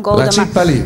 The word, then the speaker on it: Gouda: Prendi queste fette di Gouda o Guda. Non lo so davvero, si pronuncia in molti modi. So che in olandese si chiama "hoda ".